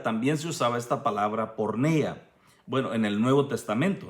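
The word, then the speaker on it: πορνεία: La palabra fornicación viene de una palabra griega, hermano, que parece que se pronuncia porneia.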